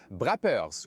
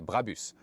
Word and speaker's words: Brabus: D'ailleurs, écoutez et répétez Brabus, ce n'est pas Brappers ou autre, la prononciation allemande originale serait Brabus. Une prononciation allemande bien ferme.